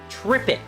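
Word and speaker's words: triptych: It's a triffitch. Trippitch? Trippic. According to Google, that is how you pronounce it.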